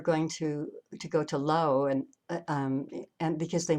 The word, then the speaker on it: Laos: when i was actually in low or some people pronounce it laos when i was there